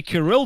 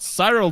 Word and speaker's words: Kirill: that's what i say i say because kirill is a name and i say kirill the wolf not cyril the wolf that